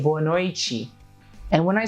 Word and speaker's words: boa noite: be troublemakers for you that's why we don't say boa noite a we say born or a chi and when I say